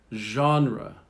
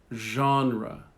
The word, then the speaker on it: genre: Genre. Genre. Genre. So we borrow it from the French, so we soften the G.